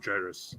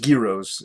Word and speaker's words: gyros: I think they're pronounced gyros. Yeah. Yeah. Or gyros. There's the G silent.